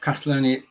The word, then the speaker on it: Catalonia: So that's the beginning of Catalonia. Is it Catalonia is the correct pronunciation?